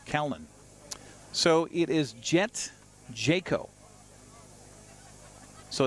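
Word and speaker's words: Jacquot: the count to Cowan so it is jet Jayco so it's spelled j-a-c-q-u-o-t which French would be Jacob but no they're saying Jayco so there you go pronunciation on our picture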